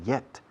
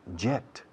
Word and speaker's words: yet: Hace 2 días decía yet. No digáis jet. Eso es reactor. Yet. Hierba. Hielo. Hiedra. Yet.